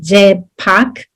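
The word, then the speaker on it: རྗེས་དཔག: Okay, so remember that the etymology in Tibetan of the word that we translate as inference, it's like, remember that it is two syllables, je pak, je meaning subsequent, so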